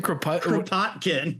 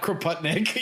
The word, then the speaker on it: Kropotkin: How do you pronounce his name? Kropotkin. Kropotkin. Yeah, not Kropotnik.